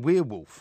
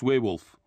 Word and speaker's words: werewolf: Why do you keep saying werewolf? Because that's how I pronounce werewolf. Well, it's not werewolf. It is werewolf. It's werewolf. It's not. Michael Jackson's video was werewolf. No, it's not W-E-I-R, it's W-E-R-E.